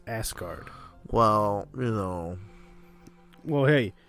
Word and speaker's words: Asgard: with the ass guardian it's asgard it's pronounced asgard well you know well